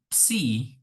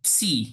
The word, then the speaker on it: psi: Oke, pertama akan dibuktikan bahwa psi, psi itu bacanya ya PSI ya, tuh.